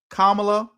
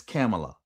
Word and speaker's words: Kamala: I've been calling her Kamla and it's Camela.